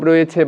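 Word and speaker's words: wrong: একইভাবে ডাব্লিউ এখানে আমরা দেখছি যে নীরব রয়েছে বা চুপ রয়েছে, সুতরাং এটাকে বাদ দিয়ে আমরা উচ্চারিত করব অ্যান্সার, সোল্ড, এখানে রাইট, এখানে রং, ডাব্লিউটা এখানে সাইলেন্ট থাকবে।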